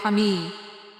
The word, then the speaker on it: Camus: One must imagine Seephus is happy said by Albert Kami. I don't know how you Americans say it, but here in Serbia where I am, we say Albert Kami.